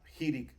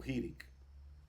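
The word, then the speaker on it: חיריק: abajo exactamente es ahí se llama jirik hacer o jirik y es una I corta por ejemplo cuando cuando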